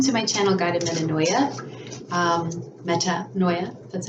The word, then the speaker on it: Metanoia: Metanoia, that's how you say it.